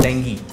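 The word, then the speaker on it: dengue: तो मैं उनको बताता था कि नहीं ये डेंगू नहीं होता, इसकी सही प्रोनाउंसिएशन डेंगी होती है।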